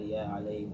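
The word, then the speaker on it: عليه: We would add a alayhi. Alayhi. Oh, he, sorry. Alayhu we just don't say it that way. We just don't say it. For pronunciation, we say alayhi.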